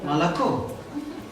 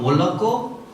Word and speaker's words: молоко: A foreigner can read it as moloko or molako or molaka. Anything can be pronounced. По-разному, то есть непонятно, где ударение должно быть.